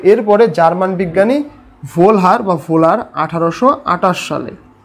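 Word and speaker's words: Wöhler: তো এরপরে জার্মান বিজ্ঞানী ভোলার 1828 সালে, ভোলার বা কোনো বইয়ে ভোলহার লেখা থাকে, ভোলার, জার্মান প্রোনাউন্সিয়েশন একটু অন্যরকম, WOHLER, এটা জার্মান লেটার।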